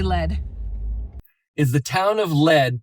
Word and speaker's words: Lead: Is the town of Lead pronounced lead or lead? The town of Lead in South Dakota is pronounced as lead.